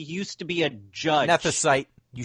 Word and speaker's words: Nethicite: Nethicite. You say it right. Nethicite.